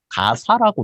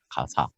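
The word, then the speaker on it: Gaza: 가사라고 나와 있습니다. 성경에는 가사. 이게 Z 발음이라 우리나라에서는 자라고 하는데 가사라고도 번역을 많이 하는 것 같아요.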